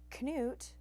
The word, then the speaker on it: Knut: name is can and this is his story canot pronounced was born on December 5th 2006 at at